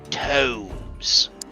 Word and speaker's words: tomes: When I first got here, I thought crawling tombs meant it was a graveyard, but apparently it's pronounced tomes, which is some kind of book.